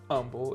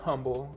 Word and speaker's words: Humble: a Humble address, and it is pronounced Humble. It's not Humble, and if you say Humble, someone is going to humbly correct you.